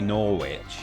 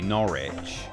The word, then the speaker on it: Norwich: um you know like you don't pronounce the W in which w I ch if that's a suffix on a place name like uh uh Norwich, you don't say Norwich, you say Norwich or um you know